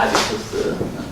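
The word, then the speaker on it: habitus: 갑자기 이 사람 왜 생각이 났냐면 이 사람은 우리 헤빗, 영어랑 헤빗, 그리고 이제 불어 발음이 아비투스입니다. 아비투스.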